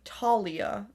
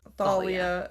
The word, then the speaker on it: Thalia: They pronounce her name Talia, right? In the movie when it's Thalia.